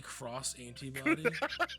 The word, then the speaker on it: X Antibody: nothing about cros heart would you pronounce X antibody cross antibody right exactly what are you cross